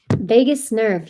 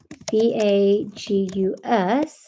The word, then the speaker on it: Vagus: Vegas nerve. Yeah, Las Vegas. It's kind of funny. That one, it's spelled Vagus, I believe. Let me see. Vagus, vagus nerve.